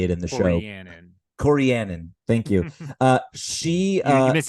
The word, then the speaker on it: Corianin: Corianin. Thank you. She you missed a syllable in the middle, but I don't know the pronunciation.